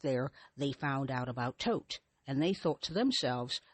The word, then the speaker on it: Thoth: Egyptians called this energy Thoth or Thoth. Or some people you might see as Thoth. Some people pronounce it Thoth. I've seen it as Thoth, Toth, Tote.